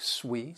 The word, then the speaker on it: suite: that are sweet and this other sweet that s-u-i it is pronounced like sweet sweet and that is because it's another word that's been borrowed from French and it refers to